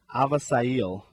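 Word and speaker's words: Avisaíl: you did not get it right but the pronunciation is aail Garcia AA sounds a lot more uh exotic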